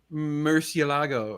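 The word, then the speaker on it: Murciélago: So you pronounce the I and the E is the hard part, Yeah.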